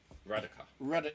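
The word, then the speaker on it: Radukar: Raduka.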